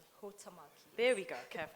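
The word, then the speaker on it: Huhtamaki: next question and you did say it is pronounced Hutamaki. Hutamaki.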